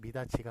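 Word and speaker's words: 미닫이: 미닷 지가 맞아요? 예, 발음은 미닷지로 하더라도 구개음화가 일어나서 미닷지로 하더라도 표기는 미닷 이로 한다라는 것이 예, 맞는 것입니다.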